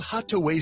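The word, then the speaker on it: Hatuey: enjoy a fine cigar called Hataway Cigars. It's that little red place right there at 16th and V Streets. It's spelled H A T U E Y.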